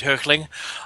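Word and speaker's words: Hoechlin: see Tyler hook earthling how do you pronounce his name because I'm gonna go to the German Oakland okay because I would go for the German pronunciation which is hurtling but we get to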